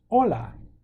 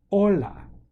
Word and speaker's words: hola: repeat after I sand hola hola the H is silent adios adios hola adios